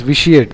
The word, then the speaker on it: vitiate: debase to weaken morally corrupt so vitiating the pronunciation is vitiate though the spelling is v i t i